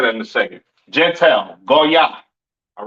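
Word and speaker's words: גוי: Pronounced in the Hebrew, Goya. Goya. The Yiddish man says Goyim or Goyim or whatever the hell he says. That's not the proper pronunciation for the word Gentile in Hebrew. It is Goya.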